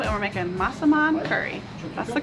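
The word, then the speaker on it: massaman: We're on to menu 2 and we're making masaman curry.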